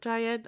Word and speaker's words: Jayed: Jayed. It's Jhyehd. So Jayed. I think it's that.